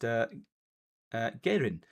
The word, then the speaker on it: Geirin: Apparently that name is pronounced Geirin, or Geirin.